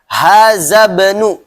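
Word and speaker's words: هذا ابن: Hazabnu. Kenapa dibacanya hazabnu? Kemarin apa disebutnya? Hamzatul wasli. Iya. Jadi hamzah ada dua, ada hamzatul wasli, ada hamzatul qat'i. Nah, ini termasuk hamzatul wasli, maka dibacanya langsung nyambung.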